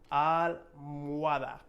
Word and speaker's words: almohada: For pillow in English, in Spanish, we have almohada. To me, this one's about like 5 times harder because the H being in the middle, and then also this word in general is fairly difficult to say.